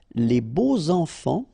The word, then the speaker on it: les beaux enfants: Okay, so you make the liaison between beau, so adjective, and enfant. And here it's quite interesting because even if you've got this X, well, phonetically it will be like Z, so like if it would be an S, okay? Les beaux enfants, all right?